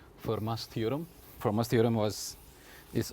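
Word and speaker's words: Fermat: us prove something called for Mass theorem forma's theorem was is also I believe we have done this um so it's a French name so we don't pronounce the T okay it's for Ma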